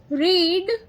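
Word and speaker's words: read: रीड रीड रीड first form लिखा।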